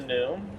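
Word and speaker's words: gnu: On the wilderbeast, sometimes we get the nickname the n just because the sound that they make when I'm referring to will the beast as a n. It's spelled g n u Just head over on the right.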